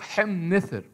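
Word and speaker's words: ḥm-nṯr: نفس الفكرة مع الإله، لقب زي ده مش هينطق من اليسار اليمين نثر حم، لا ينطق حم نثر.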